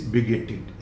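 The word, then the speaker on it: bigoted: Pronunciation देखिए, यहाँ पर टीईडी जो लास्ट में लगा है, ये नॉट टेड, इट इज बिगेटेड।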